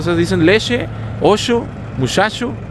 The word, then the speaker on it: leche: La pronunciación de la che. La que ustedes dicen muchacho, dicen muchacho, usted dice leche.